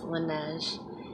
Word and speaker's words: Laneige: I think that's how they say it, is Laneige.